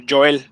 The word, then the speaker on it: Joel: have no problem hello it's pronounced is usually pronounced in spanish so joel i'm so proud of